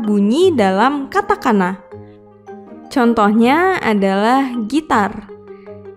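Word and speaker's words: ギター: Contohnya adalah gitar yang ditulis dengan huruf katakana jadi gi, ta, strip, gita.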